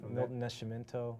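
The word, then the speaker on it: Milton Nascimento: with the music in any specifically oh uh milton nescimento i don't know if i'm pronouncing him right right ma'am almost perfect oh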